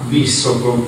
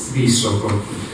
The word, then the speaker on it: Visoko: Queste piramidi si trovano a Visoko, non Visoko, come sento dire spesso, perché la S, questa si pronuncia S, Visoko.